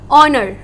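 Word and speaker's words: honour: ऑनर, again हमारा H silent है and what is coming out?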